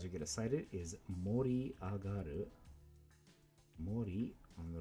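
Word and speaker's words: 盛り上がる: also two rounds you're gonna cite it is mori agaru mori on the right side can also be pronounced sakhari but not in this word justin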